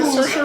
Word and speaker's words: Saoirse: Saoirse Ronan. Saoirse Ronan. Woo! Saoirse Ronan? Yeah. I believe it's Saoirse, but her name's hard to pronounce.